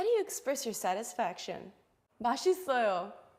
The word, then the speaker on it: 맛있어요: characters are pronounced 맛, is, yo. 맛 is oil. 맛 is oil. Together it's 맛있어요.